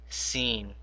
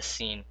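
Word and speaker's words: س: Now notice we have to make a differentiation between this swad and a scene because sometimes we make their sounds the same. Now the way to differentiate this is that when you say scene try to put a smile on your face. I call this I call scene a smiley letter and I call swad a frowning letter.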